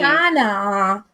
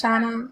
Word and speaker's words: Shana: So it's Shana. Shana, like in Spanish, Shana.